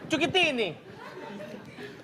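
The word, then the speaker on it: Cuccittini: Agen resminya ada Lionel Andres Messi, Cukitini Kucitini Kucitini bisa bacanya Cukitini itu nama resminya Messi.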